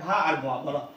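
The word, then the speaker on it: verb: নাই বলো ভ আকারে ভা বলো ভা ব্রিটিশ ইংলিশ উচ্চারণে আর এর উচ্চারণ হবে না এখানে ভি ই আর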